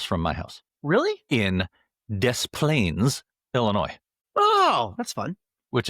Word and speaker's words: Des Plaines: Now, the correct pronunciation would be des. So you don't pronounce the S. Des Plaines.